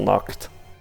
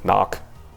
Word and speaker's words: knock: like that but typically if we have a K in front of an N for whatever reason we don't pronounce the the K right like knock k-n-o-c-k knock doesn't make